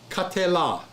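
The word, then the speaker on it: קָטְלָה: And now you got the lamed with a kametz hey, la. This is la, L-A-H. Katela.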